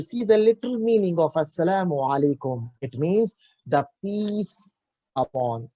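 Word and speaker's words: السلام عليكم: But if the Arab person, if he says salam, salam alaikum, salam alaikum, assalamu alaikum, see the difference. They pronounce that ayn very clearly.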